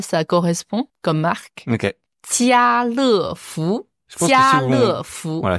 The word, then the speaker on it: 家乐福: Jialefu. Jialefu. Voilà, si on prononce plus vite, vous allez peut-être plus voir l'idée. Jialefu. Jialefu. C'est donc Carrefour.